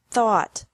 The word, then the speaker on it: thought: Think, thought, thought. Remember that the G is silent in these verbs.